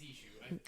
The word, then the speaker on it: Eshu: It's Eshu. Okay. Hold on. I don't want to be pronouncing wrong the whole time.